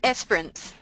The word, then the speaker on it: Esperance: She's in Esperance. Is that how you say it? It's in Australia. Esperance.